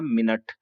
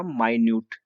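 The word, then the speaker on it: minute: दोनों की से है यह स्पेलिंग से यहां दोनों एक जैसी है लेकिन साउंड डिफर है जैसे इसको हमने कहा मिनट इसको हमने कहा मिनियूट अब मीनिंग तो देखो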